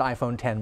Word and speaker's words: iPhone X: they're gonna call the iPhone X they may pronounce an iPhone 10 but it's iPhone and X okay what is